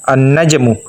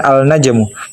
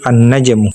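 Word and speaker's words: النَّجْمُ: Contohnya an-najmu, bukan al-najmu, melainkan cara baca yang benar yaitu an-najmu.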